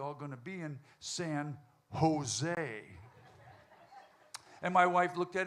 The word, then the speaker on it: San Jose: And he said, "Well, sir, that's pron J is pronounced H. It's San Jose, right?"